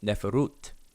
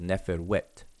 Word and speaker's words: neferut: Plural, neferu for masculine, and neferut, or some people may pronounce it neferwet for the plural feminine.